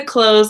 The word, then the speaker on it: clothes: hello hello put the clothes away awesome ok so close you can pronounce like the word clothes thing as an open clothes clothes and remember if you're